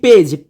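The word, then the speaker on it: page: সে কারণে আমরা এটাকে বলতে পারি যে এটার উচ্চারণ বর্গীয় জর মতো হবে, অর্থাৎ জার্ম। জার্ম মানে জীবাণু। তো সর্বশেষ দেখো লিখেছি পেজ, পি এ জিই, পেজ।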